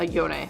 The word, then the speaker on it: Yone: Yeah, Yone. His name's Yone. I always mispronounce it.